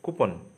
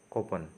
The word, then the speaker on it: coupon: People normally pronounce the word as coupon. Yes, coupon, but the actual pronunciation is coupon.